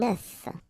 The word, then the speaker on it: œuf: if you listen carefully, the pronunciation is changing quite much, because for the singular form it's œuf, but then for the plural form here it's œufs, okay?